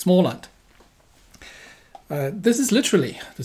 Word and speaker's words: Småland: small land it's not smartland there's a little little circle over the a which means it's pronounced all so it's small land uh this is literally